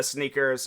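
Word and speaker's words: SNKRS: then they got this app called Sneakers but the way that they spell it is SK um it's no it's SN is it SN KR or is it SK SN KR SN SN KRS yeah that's the uh that's the uh sneakers um website and stuff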